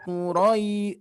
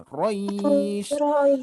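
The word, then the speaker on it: قريش: Hati-hati ro-nya jangan sampai kepanjangan. Tidak li'ilafi Quraisy. Jadi ro-nya tidak kepanjangan. Langsung saja Quraisy.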